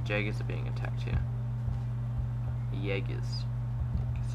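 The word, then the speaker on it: Jäger: Jaegers, that's how it's pronounced.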